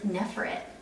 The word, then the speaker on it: Neferet: How do you say this? Nefred? Is that not how you say it? I've always said Neferet. I guess mine's a very southern way of saying it.